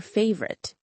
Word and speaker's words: favorite: and favorite, 3 syllables, becomes. Favorite, two syllables.